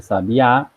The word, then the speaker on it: sabiá: Sabia, diferente de sabiá, né? Sabiá é uma oxítona.